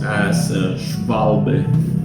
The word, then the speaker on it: Schwalbe: So this is uh pronounced asval because in German W is uh pronounced as vic or v like the victory.